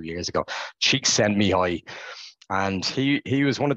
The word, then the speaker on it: Csikszentmihalyi: If you haven't heard of him, some of you probably have, and I've spelled it out phonetically there, which would have helped me 2 years ago. Csikszentmihalyi.